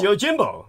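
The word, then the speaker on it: Yojimbo: uh y Jimbo yes I'm I'm sorry I'm pronouncing it wrong no it's fine it's y Jimbo that's what it is y Jimbo okay I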